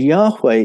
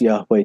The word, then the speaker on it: Yahweh: And embedded in the Yahweh name are these two H's, a sound, which is almost silent the way we pronounce Yahweh today.